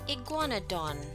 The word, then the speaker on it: Iguanodon: Let's pronounce Iguanodon. Iguanodon.